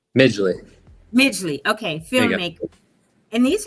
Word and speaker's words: Midgley: pronounce it. It's Miggley, right? Migley.